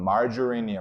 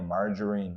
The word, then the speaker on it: margarine: 이거 미국식 영어식 발음은 margarine이야. margarine 이렇게 되거든.